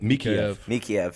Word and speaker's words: Mikheyev: Mikheyev.